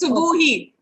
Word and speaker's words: Subuhi: You pronounce Subha and then he plus Subuhi.